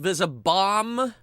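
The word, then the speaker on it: Visibomb: It's supposed to be pronounced Vizabomb.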